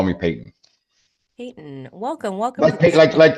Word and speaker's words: Peyton: So you can call me Peyton. Peyton, welcome. Like Peyton Manning, but it's my it's my last name. Yeah, spelled the same way.